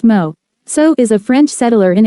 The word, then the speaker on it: Meursault: Meursault pronounced Mo. So is a French settler in Algeria who learns of his mother's death by telegram.